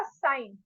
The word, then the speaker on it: sin: ही एन बोलते भी एस आई एन I pronounce वैसे ही करेंगे साइन बोलते हैं ठीक है साइन तीता